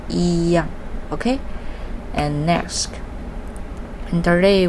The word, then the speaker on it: 一样: The other thing you should to be carefully that is the pronunciation. Although pronunciation is 一样, but normally we pronunciation is 一样. Okay, is the second time, not the first time. So you should pronunciation is 一样, not 一样.